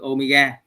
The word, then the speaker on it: omega: Thì nó được ký hiệu nó là cái chữ Omega. Cái chữ này đọc là omega các anh chị.